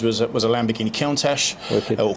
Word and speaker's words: Countach: in the 70s was it was a lamborghini countach or countach as you pronounce it i was always a lamborghini fan